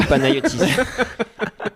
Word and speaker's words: Panayotis: Alors, ta bio Panayotis.